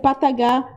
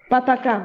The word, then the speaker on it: Pataka: Pat, j'ai mal prononcé pataka. Voilà. Pardon ? Pataka. Voilà. Voilà, c'est ça.